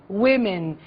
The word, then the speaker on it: women: something One woman two Women be careful with the pronunciation Okay woman Women one man Men man men